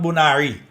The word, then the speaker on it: Bonaire: tsunami warning for Aruba, Bonaire, and Curaçao. Hey, Americans, it's not Bonaire. It's Bonaire. Yeah? So, Aruba, Bonaire, Curaçao. You want to say it with that accent, say it like that.